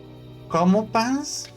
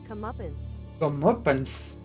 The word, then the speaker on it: comeuppance: Well, I believe Arceus and my brothers deserted their how the fuck do I pronounce that? Comopans? Help me, Google. It's a punishment. Comeuppance.